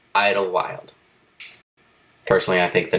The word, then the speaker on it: Idyllwild: was laughing at me I called Italy would highly wild but it's just I don't what I don't see that there goes it's just Idlewild personally I think the